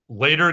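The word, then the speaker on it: Leder: big donations from um later games because I refuse to pronounce it leader because it's German for leather um sorry van Ryder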